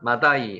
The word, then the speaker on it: 마대: 마다이 한번 해보세요. 마다이. 마다이. 자, 중간 마다이.